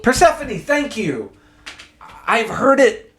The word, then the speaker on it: Persephone: I have always not known how to pronounce Persephone? Persephone, thank you.